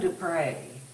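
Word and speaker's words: du Pré: other third quote I had was from Jacqueline to pray that's the last name is spelled EU and then PR e videos are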